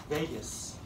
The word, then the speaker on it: Vagus: like the longest nerve Vegas so don't think Las Vegas it's not spelled like that is it students always